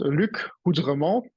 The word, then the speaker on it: Luc Houdremont: By the way, first, I'm pronouncing my name how it should be. Now it's French, it's very difficult. It's called Luc Houdremont.